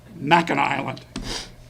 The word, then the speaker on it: Mackinac: Am I saying it right? Not Waccamaw Island, Mackinac Island.